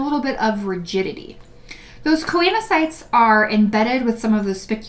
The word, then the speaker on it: choanocytes: The outer layer of the sponge has flattened cells and an inner layer of cells called choanocytes. Sometimes you hear it pronounced choanocytes.